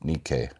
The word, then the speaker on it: Nike: I think it's actually pronounced Nikkei, but like the Greek.